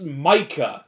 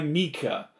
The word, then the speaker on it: Micah: to pronounce the name it's micah i have never met a single person with that spelling of name who goes by mika and i know a